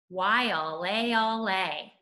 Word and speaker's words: Waialeale: let's take a look why all a all hey let's put that together Waialeale that's an interesting word